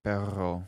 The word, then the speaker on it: perro: whatever it is right it's the double r right so when you say uh there's peril yeah like p e r o and then there's like perro which is the yeah